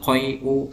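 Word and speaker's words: القيء: Jadi selalu dibaca dengan dhamma. Wal huknatu wal qai'u ya, bacanya seperti itu.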